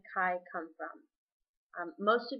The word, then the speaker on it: Khai: that's not true i started shortening it to kai when i was really little but i spelled